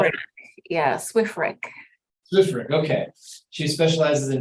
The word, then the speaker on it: SWREC: Yeah, SWREC.